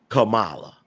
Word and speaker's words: Kamala: That word is pronounced Kamala.